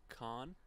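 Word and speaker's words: Cannes: I mean yeah where where is so it's pronounced con yeah where is KH con's in France the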